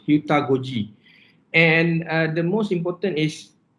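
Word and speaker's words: heutagogy: It's pronounced Hutagoji, and the most important is pedagogy is a part of education that student-centered learning, and it must be involved directly.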